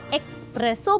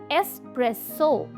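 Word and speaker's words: espresso: तो दोस्तों, अगर आप इसे एक्सप्रेसो बोलते हो दैट्स इनकरेक्ट, बिकॉज इसकी सही प्रोनाउंसिएशन है एस्प्रेसो।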